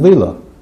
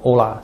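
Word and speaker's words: Euler: 欧拉，他这个名字的发音准确的应该读威勒，但一般我们都读欧拉，就这样读了。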